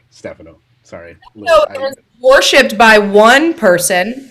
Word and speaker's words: Stefano: I like pronouncing it Stefano, but I know the correct pronunciation is Stefano.